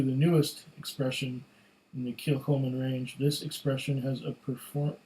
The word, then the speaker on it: Kilchoman: Established in 2005, Kilchoman, pronounced Kilchoman, is one of the smallest distilleries in Scotland, based on a farm on the rugged west coast of Islay.